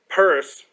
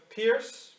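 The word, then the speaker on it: Peirce: uh you know on Charles purse not Pur yeah P Pierce Pur purse it's Pur it's not Pierce or is he the one that spelled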